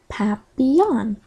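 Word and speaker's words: papillon: like our neighbor's dog you say it like this papon in French it means butterfly I help Miss Divine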